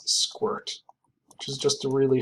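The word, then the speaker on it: sqrt: And it's very common to pronounce this as squirt, which is just a really hilarious opportunity to be able to use the word squirt in math class.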